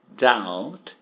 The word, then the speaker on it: doubt: Waiting, no doubt, sem dúvida nenhuma, no doubt, não fala esse B, doubt.